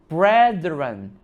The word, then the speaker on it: brethren: Unlike their primitive brethren, 발음이 brethren 이더라고요.